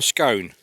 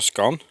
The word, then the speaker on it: scone: And we have, that's a jam scone. Not a scone, a scone.